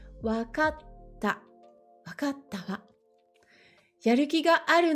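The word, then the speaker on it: わかった: Attention, ici, c'est bien un petit tse, on ne le prononce pas. C'est une pause dans le mot. Wakatta.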